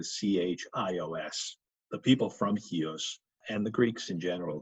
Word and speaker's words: Chios: and hios mastia and hios yes uh in fact you see hios spelled a lot with a CH in fact I think